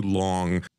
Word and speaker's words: long: you for too long the nasal NG sound in long is produced with that back of the tongue rather than an n and a g the G is not pronounced this is an entirely different sound I don't want to